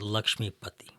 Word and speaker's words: Lakshmi: indian version yes well the indian version is lakshmi lakshmi is the goddess of wealth and